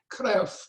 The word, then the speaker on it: Kruif: I've learned to pronounce it like a Dutch person, Kruif, Paul de Kruif, called The Microbe Hunters.